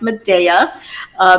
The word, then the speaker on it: Medea: I always grew up with it being pronounced Medea. There's day in the middle, the sun's in the middle.